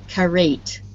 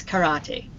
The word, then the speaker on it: karate: the good pronunciation right normally in english we don't pronounce the e on the end of words but um karate is not really an english word so okay if i